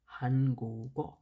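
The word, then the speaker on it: 한국: না, তখন এই পাচ্ছিমের ঘরে যেটা থাকবে সেইটার উচ্চারণটা এইখানে গিয়ে উচ্চারিত হবে। যেমন আমরা এখানে পড়ছি হিয়ং, এটা হবে হানগুগ।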